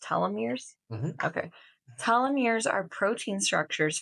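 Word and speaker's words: telomeres: voice the secretary voice let's do it it's pronounced talir okay talir are protein structures found at the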